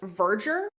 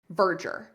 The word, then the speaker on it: Verdure: you, it is pronounced Virger. So, I want you to think of the word merger, M E R G- R. And just replace the M with a V. Verger. Verger.